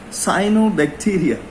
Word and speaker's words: cyanobacteria: lionel bacteria or the cyanobacteria sorry for the mispronunciation it's cyanobacteria also previously they were called the blue-green bacteria